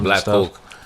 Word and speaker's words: Blck Coke: Yeah, so Black Coke. Black Coke, that's spelled BLCK, Coke. COKE.